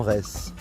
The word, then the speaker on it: Retz: Terres en reste alors ça s'écrit DZ à la fin mais si c'est comme Metz pour nombre de fois on m'a repris ça doit se prononcer en reste et on est au